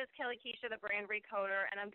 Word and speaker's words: Kellie Kuecha: Many of you know my name is Kellie Kuecha. That is how you pronounce my name, even though it doesn't look that way.